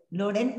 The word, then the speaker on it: Loren: ¿Loren? ¿Así se pronuncia?